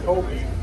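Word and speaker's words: kopje: Speaking of habitat, we're rolling by the Kobe. That J is silent. Kobe is a Dutch word. It represents the flat grasslands of Africa, Kobe.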